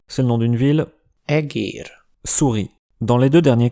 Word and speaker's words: egér: kár (dommage) ; Eger (le nom d’une ville), egér (souris).